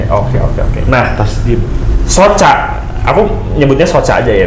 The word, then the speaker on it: Soca: Bacanya Soka ya? Soca. Dari mata. Oh, dari Sunda, mata. ya. Oh, mata bahasa Sundanya Soca. Soca. Oh. Cuman udah banyak yang pakai Soca jadi tambahin C aja. Double C.